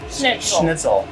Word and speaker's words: Schnitzel: I was like, I don't know how to pronounce that. Yeah. Schnitzel.